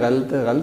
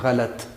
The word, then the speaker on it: غلط: یہ لفظ بولتے ہیں غلط، یہ ایسے نہیں ہے۔ لام کے اوپر بھی زبر ہے اور اس کی درست ادائیگی ہے غلط۔ یعنی کہ ہم نے غلط بولنا ہے، غلط نہیں بولنا۔ تو یہ سکرین پر